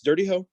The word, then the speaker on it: Dirty Ho: No, it's Dirty Ho. It's exactly what it sounds like.